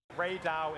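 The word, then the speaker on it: Rey Dau: Ray Dow is the name of this powerful Ray monster.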